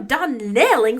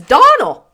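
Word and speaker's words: Donnell: Dell woman she'll get no D nailing from me I can assure you the name is Donal and always has been the woman is crazy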